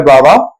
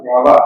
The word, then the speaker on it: Bava: My friends are Umar Bawa. Umar Baba. Umar Bawa. Yes, sir. Spell it.